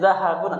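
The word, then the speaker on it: ذهب: Kalau fi'il zahaba akhirnya fathah tidak bertanwin. Tapi dibacanya zahabun artinya emas.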